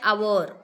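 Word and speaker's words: hour: मग अन कसं कारण त्याला उच्चार जरी हावर स्पेलिंग जरी हावर आहे पण त्याचा उच्चार आवर होतो करेक्ट आहे उच्चारावर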